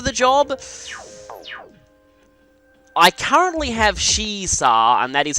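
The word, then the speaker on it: Shiisaa: I currently have Shisa, and that is how you pronounce it, because I have looked up the actual Japanese.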